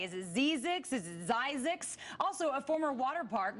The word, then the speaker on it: Zzyzx: the one Lisak Zzyzx I'm guessing actually it's pronounced as Isaac's name by a man named Curtis Springer who